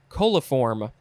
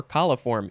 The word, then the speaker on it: coliform: all right next is coliform or coliform either one is okay i guess this is